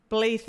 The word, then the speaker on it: Blaidd: Blaith is how you say it.